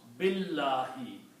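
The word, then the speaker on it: بِاللّٰهِ: Also, when we try to read these together, we do not pronounce B and Allahi, but we combine B with the lam here. It will be pronounced Billahi.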